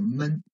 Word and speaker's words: 们: So the note one is a men. You can see this is a neutral tone syllable without any tones, right? Just a 轻声, so it's a neutral tone, men, okay?